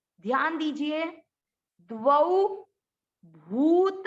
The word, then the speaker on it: द्वौ: द्वौ, आधा द, वौ, द्वौ भूत सर्गौ लोकेस्मिन्।